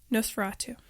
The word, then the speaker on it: Nosferatu: You mentioned how when they show, how do you pronounce the name of the movie? Nosferatu.